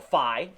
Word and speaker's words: Phi: that is a so you can call it a Phi or a fee either one is good up fee or Phi